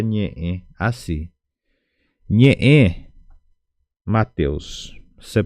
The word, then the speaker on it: ñe'ẽ: manera así y entonces vas a pronunciar la letra ñe El ñe viene del nh n portugués viene la palabra ñe Entonces sería ñe e ñe e porque tenemos el puso que divide la letra e entonces puso significa corte